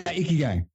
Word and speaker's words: ikigai: It was a Japanese ikigai, right? Am I pronouncing that right? Yeah, ikigai.